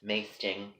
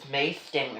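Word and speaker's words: maesting: Masting is a word. If you go on my website, it is spelled M-A-E-S-T-I-N-G. The word masting means, I know what you're all thinking, it rhymes with hasting, hasting.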